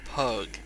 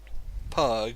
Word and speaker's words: Pugh: Hren and William pug that's how I'm gonna pronounce his name because it looks refusing also is better than William Pugh which is probably how you'd really fancy that's oh yeah pew pew like that like that youtuber